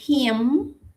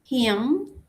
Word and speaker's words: him: Para he si cambia es him. him. Como con una J al inicio.